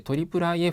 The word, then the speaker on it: IIIF: います。IIIF と書いて IIIF というふうに読み